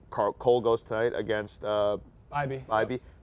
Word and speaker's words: Bibee: Bibee. I always pronounce his name BB in my head, but it's just not.